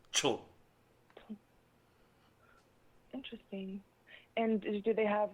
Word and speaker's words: TCHN: Yes, perhaps it is spelled in your English equivalent. It would be approximately TCHN. TCHN? Yes, Chun.